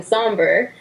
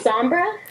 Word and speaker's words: Sombra: And the new villain for My Little Ponies, Emily told me people have been pronouncing Somber. Emily, what really is it? Sombra? It's Sombra?